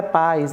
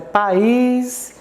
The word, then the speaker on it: país: Mares já passou batido país né cuidado que não é paz é país céu mas tô aqui